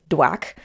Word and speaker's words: DWAC: by joining with digital world acquisition core aka dwack pending regulatory and stockholder approval dwac is a